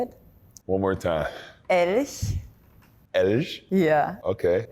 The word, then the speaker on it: Elch: Elch. Can you say it? One more time. Elch.